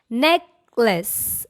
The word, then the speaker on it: necklace: numbness numbness not numbness what about this word necklace there is no lace okay the right way to say this word is class necklace not necklace this one notification there